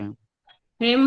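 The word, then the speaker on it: ह्रीं: ह्रीम भम, ये ऊपर जो बिंदी है ये मौ का साउंड देती है।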